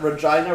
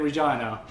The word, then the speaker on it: Regina: You know, Deadpool, some people were so salty about that Regina rhymes with fun joke because they're like, oh, that's so overdone.